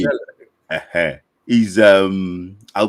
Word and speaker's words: Chelle: yeah, the issue is this: Eric Sekuchile or Chelle or Shell. Charlie or Shell. Yeah, See, Shell.